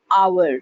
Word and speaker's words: hour: Because H is silent out here. That's why I will see you in an hour, not a hour.